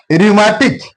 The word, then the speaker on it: rheumatic: Rheumatic, it's a disease. Here H is silent.